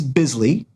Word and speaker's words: Bisley: Uh, Greg Land, uh, Simon Bisley, and it is Bisley because I actually asked him how to pronounce his name and he said that it is Bisley.